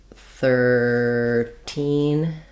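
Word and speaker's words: thirteen: and the th sound so in 13 13 stressing on the second syllable 13 we do stress on the teen syllable in the teen numbers um so thinking about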